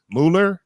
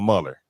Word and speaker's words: Muller: And if you want to send an email to Owen, you can email him at Owen Muller or Muller. either way. Okay. Muller is the authentic Swiss German pronunciation.